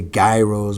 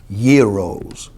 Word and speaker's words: gyros: gyros man you know how people pronounce they say guy rose but it's really not pronounced like that it's gyros that lamb meat man